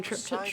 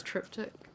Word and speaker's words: triptych: now i'm wondering if i've just been saying trip tip wrong i've always heard it i was thinking exactly the same thing though hmm i've always heard it pronounce that but i think it actually is triptych really i think i was saying it wrong but i've heard other